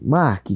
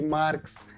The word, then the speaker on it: Marc: anjo Obrigado pelo convite marque cara eu falei errado começar falando que as pessoas me chamam de de marketing de Marques Já me chamaram até de Márcia que é mudo Então falou certo João é assim comunicação